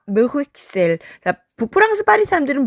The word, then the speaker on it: Bruxelles: C'est à Bruxelles. 북프랑스 파리 사람들은 브휘셀 x 발음을 하고요. 남프랑스로 갈수록 브휘셀르라고 발음합니다. 두 발음이 다 맞습니다.